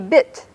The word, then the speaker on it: bit: The letter I, a good word with that would be bit. So you can hear that I is pronounced something like I in Caddo, bit, which is the number 2.